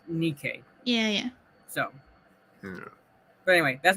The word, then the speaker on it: Nike: We pronounce it Nike. This is the Greek word for victory. Nike is the Greek word for victory, but in Greek it's pronounced Nike.